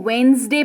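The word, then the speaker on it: Wednesday: पढ़ सकते हैं बट आप सीख जाएं तो वेनसडे पढेंगे इसको अतिथि हो आरएस चिब व ओं थर्सडे क्या पढ़ते हैं उच्चारण पर जरूर ध्यान दीजिएगा थर्सडे यानी कि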